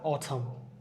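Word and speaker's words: autumn: ওয়ার্ডের শেষে এম এবং এন থাকলে এনটাকে সাইলেন্ট রাখতে হবে। অথম অথাম আমরা কিন্তু অথাম এরকম বলি না আমরা অথম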